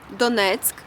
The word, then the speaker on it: Donetsk: Using Google Maps, let's see the geography of this region and also learn how to pronounce the names of major cities. Donetsk, as I said, is the unofficial capital of Donbas and fifth largest city in Ukraine.